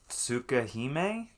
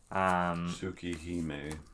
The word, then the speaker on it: Tsukihime: I haven't played it yet or anything, but this is, I'm probably going to pronounce this incorrectly, Tsukahime, Tsukhime. Tsukihime.